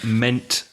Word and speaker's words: meant: you I meant that be careful because there are two vowels in the spelling M e a NT one vowel sound a mint so I meant to tell